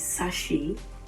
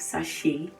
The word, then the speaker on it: sachet: that it's actually wrong the right thing to say is sashi you have the sound and then the sound at the end is also silent so you have sashay sometimes like let me